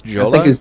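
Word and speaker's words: Jolla: how to pronounce this Jola Yola Jola y if if it's Finnish then it's Yola probably Yola right yeah if it's because it's Finnish right then it's Yola yeah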